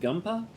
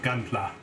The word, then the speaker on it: Gunpla: but actually you're into is it pronounced gumpa gum gun goddamn classic model gunpla yes you're into that aren't you